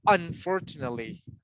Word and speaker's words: unfortunately: see uh unfortunately it's it's better to say unfortunately in the first syllable unfortunately right unfortunately unfortunately